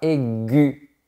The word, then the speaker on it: aiguë: son canoë de plus parfois le tréma sur le E permet juste de provoquer la lettre U qui est juste avant et donc on ne va pas prononcer est on ne va rien prononcer en fait par exemple une voix aiguë tu vois pour créer